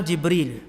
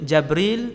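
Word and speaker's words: جبريل: Malaikat Jibril jawab, ana Jibril. Jibril, Jabril, Jibrail, Jibrail. 4 cara baca. Semua sahih.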